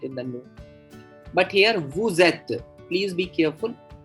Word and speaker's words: vous êtes: So that the S of the subject pronoun vous is pronounced as an English Z in the phrase vous êtes.